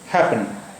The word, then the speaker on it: happen: देखिए, यहाँ पर डबल पी है, लेकिन इसका प्रोनाउंसिएशन जो है, साउंड जो है डबल पी का, सिर्फ एक ही बार निकला, हैपन, हैपन, हैपन।